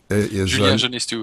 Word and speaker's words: Julien Genestoux: Hey, Julien Genestoux is the pronunciation. Julien Genestoux.